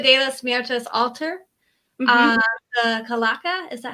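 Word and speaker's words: calaca: So the altar, the Dia de los Muertos altar, the Kalaka, is that how you say it? Kalaka? Yes, perfect. Kalaka.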